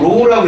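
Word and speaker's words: ρ: 요거 로우라고 읽거든.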